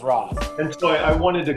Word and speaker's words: Ra's: Neil told me it's Ra's. He gave me a whole story. It's Ra's. Neil told me it was Ra's.